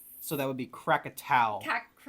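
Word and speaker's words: Krakatau: Number nine is um I don't know how to pronounce those. So that would be Crackatau.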